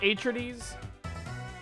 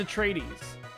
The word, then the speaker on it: Atreides: Wait, is it pronounced Atrides? No, it's Atreides.